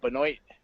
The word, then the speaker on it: Benoit: No, I don't think it should have been a draw, but I also don't think Benoit, which is how you pronounce his name, should have won.